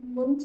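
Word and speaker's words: Münch: ये कोफिशिएंट लगा है, मुंच कहते हैं इसको, नॉट मंच। Okay, this is मुंच hypothesis. बड़े लोग अपने नाम को कुछ भी Sir, ये प्रोनाउंस, point क्या है? बेटा ये इनका कोई ग्रीक या ऐसा लैटिन करके कुछ उनका रहा होगा, जिसकी वजह से इसका प्रोनाउंसिएशन जो है मुंच होता है, नॉट मंच।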